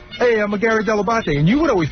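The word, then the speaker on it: Dell'Abate: I don't remember specifically day one, but I know I got the pronunciation Delabate from you. I said that is the proper way to pronounce it, but nobody.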